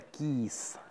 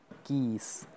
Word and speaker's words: keys: y ésta se pronuncia keys además es con una z aquí es muy fuerte keys vamos a darle play